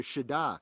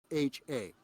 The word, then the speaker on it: Siddha: And so in Hindu, you have this idea, Shida. So Siddha. Yeah, that's how you say it.